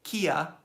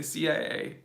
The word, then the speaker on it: CIA: don't say CIA and we don't say Kia for CIA or for B for FBI would say FBI we say CIA and we say ETA